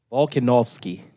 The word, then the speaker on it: Volkanovski: Now, the well-educated African is going to correct my pronunciation of the Greek name. Volkanovski.